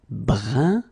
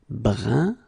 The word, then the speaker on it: brun: Then another example, brun, brun, okay, fin, brun, fin. So you write it differently, but then you pronounce it like the first one.